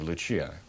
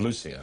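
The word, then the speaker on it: Lúcia: the Portuguese handwriting of lechia of lucia i understand is the pronunciation portuguese unless they suspected that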